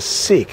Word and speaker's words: Siq: We're going to enter in here through what's known as the SEK. It's spelled SIQ. Sik is a very very long passageway.